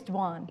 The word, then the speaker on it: Doan: It's Dwan. Okay, but it's spelled I understand like Shane zero. Doan. And it's D-O-A-N, so how would you pronounce it at home?